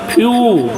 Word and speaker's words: few: ये साइलेंट हो गया फ्यू ई डब्ल्यू का उच्चारण इ यू हुआ फ्यू एम ई डब्ल्यू